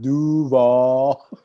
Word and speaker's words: Duval: nobody else worth watching it's pronounced duval whatever now here's the